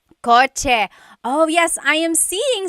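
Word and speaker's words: kotse: In the Tagalog alphabet, there is no letter C in Tagalog. Naturally occurring. The cha-ch sound is a ts combination. Coch car is coch with a ts spelling.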